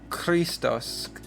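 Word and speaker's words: Χριστός: So, you might think it's Christos, uh but it's pronounced like the Hebrew chet or kaf, and so we have ch- Christos.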